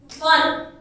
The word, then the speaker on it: one: One. तो one में कौन सी साउंड आ रही है हमारी? V की। One. Right? O की साउंड नहीं आ रही, इसलिए हमने आगे क्या लगाया?